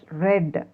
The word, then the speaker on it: read: a d read na but we have to pronounce it as read on our past and body we have to pronounce it as red red red under pronunciation but the spelling is read only have you understood so